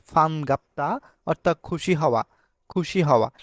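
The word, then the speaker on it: 반갑다: দেখতে পাচ্ছি ফান গাপ্তা যদি বিয়োগ যদি শব্দের শুরুতে বসে থাকে তাহলে বিয়োপটা আমাদের প এর মত উচ্চারণ হবে আমরা বলব যে ফান গাপ্তা অর্থাৎ খুশি হওয়া খুশি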